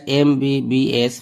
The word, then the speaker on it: MBBS: He is dash MBBS. Fill in the gap. N. He is an MBBS. এখানে M consonant থাকা সত্ত্বেও M ভাওয়ালের মতো উচ্চারণ হওয়ার কারণে N হয়েছে।